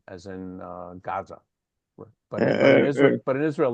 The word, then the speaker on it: Gaza: Uh, I want to call your attention to in in if you listen to Israelis, they never say Gaza, they say Aza because the first letter in Gaza is not a gimmel, but an iron.